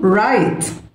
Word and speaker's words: write: read read read يكتب write wrote written ال W silent write wrote written collocations